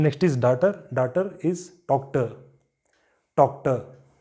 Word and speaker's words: Tochter: Daughter is Tochter. Tochter. You don't pronounce this letter R.